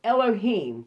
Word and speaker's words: Elohim: l okay genesis 1 1-3 mark 13 19 pronounced elohim plural forms of l this name is usually